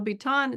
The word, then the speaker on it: Biton: yeah, Biton. Yeah. Her name's pronounced Biton, but I wanted to make sure everybody could Yeah.